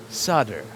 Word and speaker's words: solder: almost as satisfying as not pronouncing the L in sder now we're going to